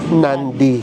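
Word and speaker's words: Nadi: Yung spell niya N A D I pero pino-pronounce nila ng may N. Nandy.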